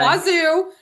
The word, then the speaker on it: WSU: That is what the locals say. Wazu. Wazu. I know. It's what? WSU. I guess it's too hard to say WSU.